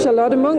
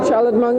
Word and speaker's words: Charlotte Munck: My name is Charlotte Munck. That is how it's said in Nordic, in Danish, where I'm from. Charlotte Munck, it would be internationally.